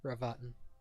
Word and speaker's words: Ravatan: His name is Ravatan. I'll relay that name. Oh. Or I'll spell it out. RAVATAN. Ravatine.